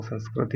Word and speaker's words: संस्कृत: नाम है संस्कृत साफल्यम् अपन संस्कृत को संस्कृत कहते आ रहे हैं तो उसका सही उच्चारण है वह संस्कृत है ठीक है तो संस्कृत